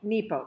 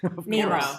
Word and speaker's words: Nepo: So Nepo, Mark Nepo. Did I say it wrong? Nemo. I said Nemo.